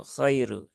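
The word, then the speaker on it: خير: untuk memudahkan bukan menyusahkan maka diucapkan biasa saja kohairu kohairu Khairu tidak perlu ada penekanan yang berlebihan setelah itu di sini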